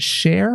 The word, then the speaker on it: Shere: It is indeed, as you mentioned, the Hite report by, is it Shere Hite? Shere Hite. Like Shere CHER, yeah. Yeah, and it's like CHER, but she spells it SHERE.